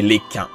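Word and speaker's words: Lekain: Dans ce cas, permettez à Lekin, votre humble serviteur, de prendre la tête de la commission. Et oui, son nom est supposé se prononcer Lekin.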